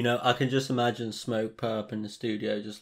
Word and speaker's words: Smokepurpp: not my favorite everything you gotta say how the americans say perp smoke purp smoke purp smoke perk now i